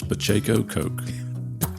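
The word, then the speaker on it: Pacheco Koch: it said so many different ways so uh pronounce it exactly correctly for me it is Pacho Coke and I I can't even go down the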